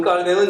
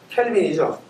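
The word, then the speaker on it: Calvin: 존 깔뱅은 여러분 우리 옛날에 공부한 분은 존 켈빈이죠. 근데 우리가 저 모든 언어들을 전부 다 미국식으로 발음하기 때문에 불어는 깔뱅 이렇게 읽어야지 옳죠, 그죠? 그래서 우리 존 깔뱅 이렇게 읽어야 되는데 사실 우리가 미국적인 영향을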